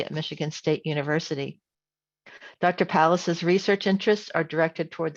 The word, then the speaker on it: Pallas: Our next speaker is Brooke Pallas. Did I pronounce that right? Pallas?